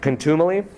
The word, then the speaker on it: contumely: How do you spell that? Contumely? C-O-N-T-U-M-E-L-Y.